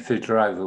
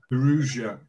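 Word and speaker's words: Firouzja: Well, I called him Ali Fidorova. Okay. Ferruzia. Ferruzia. Close enough. Ferruzia. Mm. Yeah. That's right.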